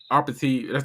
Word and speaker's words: apartheid: Besides apartheid. That's how it's pronounced.